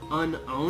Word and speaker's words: Unown: Hey Alex, I just looked up unknown in the Pokedex 3D Pro app, and did you know that the correct pronunciation is actually unowned?